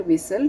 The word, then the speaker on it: whistle: Whistle, T is silent here.